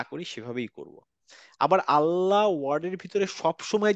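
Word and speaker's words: الله: লামের উচ্চারণে সেটা হচ্ছে লাম যখন আল্লাহ শব্দ উচ্চারণ করি আমরা তখন গিয়ে এই লামের উচ্চারণটা একটু ভিন্ন হয় দেখেন নরমালি যখন লাম উচ্চারণ করছি আমার জিভের পিছনের পার্টটা নিচের দিকে তাই না কিন্তু জাস্ট ওয়ার্ড আল্লাহ এই আল্লাহ ওয়ার্ডের ভিতরে যখন আমি লামের উচ্চারণ করছি তখন এই লামের উচ্চারণটা একটু উঁচু হয়ে যাবে হ্যাঁ আল্লাহ জীবটা গোল হয়ে উঁচু হবে আল্লাহ হ্যাঁ এটা শুধুমাত্র হচ্ছে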